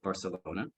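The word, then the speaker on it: Barsalona: on global scale is Mr Frank Barcelona uh it's spelled almost exactly like the city but it's slightly different b-a-r-s-a-l-o-n-a Barcelona Frank was born in 1938 and while he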